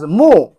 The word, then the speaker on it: 木: Pronounce as Mu.